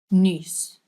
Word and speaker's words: nuus: So this one is u. You're making this weird shape with your mouth.